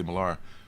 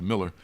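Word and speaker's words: Millar: you call him Miller I want to say milara but he calls pronounced as a Miller uh with the Miller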